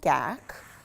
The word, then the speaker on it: GAC: more transparent so we add in something called gak I know that's a funny word it's spelled g-a-c this is gak 100 and the